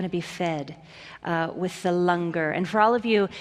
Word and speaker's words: langar: be fed with the Lunger and for all of you it's spelled langar but it's pronounced longer so after the service